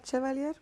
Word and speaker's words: Chevalier: name wrong, which I'm like, they keep saying Chevalier. It's Avila Chevalier.